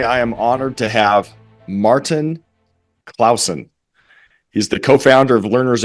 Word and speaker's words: Martin Clausen: Martin Clausen, is that right? Martin, I kind of lost sense as the years have gone on. I'm living abroad, but yeah, you nailed it, Martin Clausen.